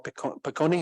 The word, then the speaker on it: Piccone: She at that time was hanging out with the Marxist phenomenologist Paul Piccone, that's how he pronounced his name, right?